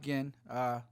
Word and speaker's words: Ginn: Ginn, not Ginn. Spelt the same, pronounced a little differently.